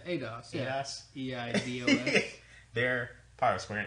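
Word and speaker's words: Eidos: ADOS?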